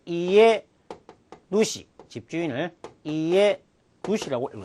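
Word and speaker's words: 家主: 어떤 동물의 주인을 사육주, 이것을 우리가 카이 누시라고 읽을 수가 있습니다. 그 다음에 집주인을 또 이에 누시, 집주인을 이에 누시라고 읽을 수 있습니다.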